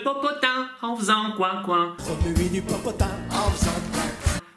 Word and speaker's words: remuer: Remuer, remuer le popotin en faisant coin coin. Remuer du popotin en faisant coin.